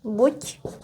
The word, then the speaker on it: buď: And we would write D in here. But because it's at the end, we also pronounce it voiceless. So it would be pronounced as ť.